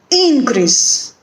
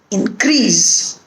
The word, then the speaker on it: increase: So we put accent or stress on the first syllable when the word is a noun or an adjective, and when the word is a verb, we put accent or stress on the second syllable.